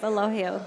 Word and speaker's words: Elogio: Yes, the G pronounced H. Like I an see. H. Gotcha. Yeah. All right. We get people come and say, do you have Elogio? All sorts, but it's Elogio, yes.